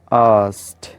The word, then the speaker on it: asked: हमारा next word आस्क की past form है, तो ये आस्क्ड नहीं है। मैंने काफ़ी टीचर्स को भी मिस प्रोनाउंस करते देखा इस वर्ड को, वो आस्क्ड बोल रहे होते हैं, विच इज़ टोटली रॉन्ग। आप यहाँ पे के साइलेंट है, तो आपने इसको बोलना है आस्क्ड, asked.